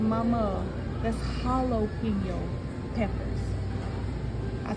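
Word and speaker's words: jalapeño: want some of them jalo Peppers too I said some what jopo peppers I said Mama that's Holo peppers I said the J is silent what you mean is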